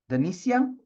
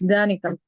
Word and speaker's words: Danica: Denicia? This is the name? I pronounce it correctly? It's Danica.